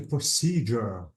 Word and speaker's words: procedure: uh this one and if you find S Ur you have to say J so I have to say like a procedure notice that the procedure ends with s u r e so any s e at the end you have to say sure procedure okay okay okay let